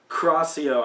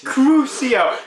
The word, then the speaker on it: Crucio: took out my wand crosio i shouted no no no it's crucio crucio pronunciation of magic is the key or something horrible will